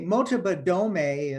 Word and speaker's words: Motobadome: Okay, Motobadome is MOTOBADOME. The E's pronounced as an A, Motobadome.